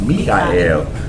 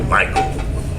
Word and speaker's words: Michael: Oh, it's pronounced Mikael, but in English we say Michael, but it's Mikael, and that means who is like unto Elohim.